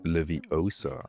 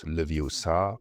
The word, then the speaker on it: Leviosa: We complete the lesson, we learn the spell, and we get the It's pronounced Leviosa, not Leviosa achievement.